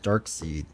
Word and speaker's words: Darkseid: Pronounced You Darkseid? may put any one. Oh, Darkseid, thanks.